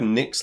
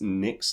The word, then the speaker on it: Nyx: well it's Nick's Lotus it's spelled NYX as in like the Nicks from Theos yeah yeah it's the Lotus that Nick made no no no not n i c k Nick NYX I can't get this we're